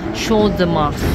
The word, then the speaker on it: Champ de Mars: station Champ de Mars Ang spelling niya ang pronunciation niya Show the mas ng Google dito daw dito daw kami dito